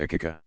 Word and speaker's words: Aqiqah: A recommended but optional ceremony called the Aqiqah, pronounced Aqiqah, occurs when a baby is 7 days old.